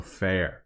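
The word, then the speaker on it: féar: So fair. That's how it's pronounced. Fair. Like fair hair.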